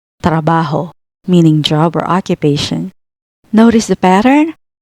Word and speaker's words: trabajo: And the last one is trabajo. Consonant cluster tra, tr plus a, plus consonants ba and ho gives us the word trabajo. trabajo, meaning job or occupation.